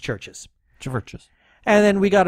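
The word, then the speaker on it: CHVRCHES: although it's spelled churches churches yes but it's pronounced churches georgeous and then we got another comment from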